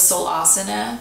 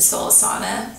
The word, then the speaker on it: Soul Asana: studio called soul asana I thought it was so la sina and soul asana ami the owner took that yesterday i've been saying it wrong whoops anyway so I